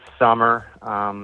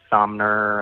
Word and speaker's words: Sommer: It's summer, like the season, but just spelled with an O. Yeah, I get Summers a lot. I get Sommer. I get Somner.